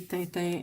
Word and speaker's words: Tintin: How should Tintin be pronounced? Tintin. But that's the hard part, is trying to... That sound, that stupid sound, is really hard to... like, equivocate to anything, so it's really hard to get the right pronunciation of it. But the sound in French is difficult because it comes from the top of the throat.